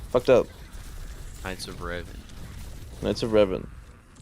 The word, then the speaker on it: Revan: but that should leave everything for Knights of Ravon to open up this fight and secure Atlas. I keep changing the pronunciation of their team name. up. Knights of Revan.